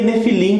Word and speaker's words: Nefilim: bem pronunciada no final né de felinos se pronuncia nephilim como a gente está acostumado aí provar uma